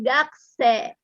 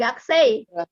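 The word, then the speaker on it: 学生: Huruf i setelah bunyi e dalam bahasa Jepang itu memanjangkan bunyi e. Ya, jadi kalau sensei jadi dibacanya sensei. Gakusei jadi gakse. Ya, bukan gaksei, bukan sensei gitu, bukan.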